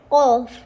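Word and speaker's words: ق: fei fei Kof natakiwa itoke kooni kof kaf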